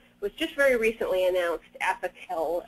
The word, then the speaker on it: Apoquel: There's a very, very new drug out there that was just very recently announced, Apoquel. I think I'm pronouncing that correctly, A-P-O-Q-U-E-L, it's spelled.